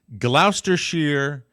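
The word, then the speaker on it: Gloucestershire: let me see if I've got the correct pronunciation here it's Glouster Shear uh in England and it is the I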